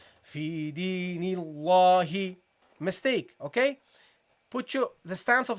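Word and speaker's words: فِي دِينِ اللَّهِ: Because there is a kasra. It is preceded by the kasra. This kasra affects the pronunciation of this lam. Whereas this dhamma here affects the pronunciation of this lam with Nasrullahi. The dhamma makes the lam heavy, whilst the kasra makes the lam light.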